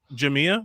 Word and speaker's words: Jamia: Yes, Jamia. What? Yeah. The accent is on the I.